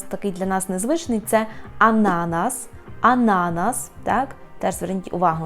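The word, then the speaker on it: ananas: будьте обережні банан ще подібним фруктом який має наголос такий для нас незвичний це ананас ананас так теж Зверніть увагу на це Ідемо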